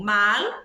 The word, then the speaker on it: mal: De novo, mal, se é o contrário de bien, é um advérbio, certo? Esse mal se escreve com L. Olha a pronúncia do L, mal.